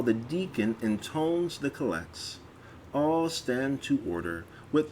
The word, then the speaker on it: collect: the office of the collects note 55 a collect the accent is on the second syllable a call act is a short prayer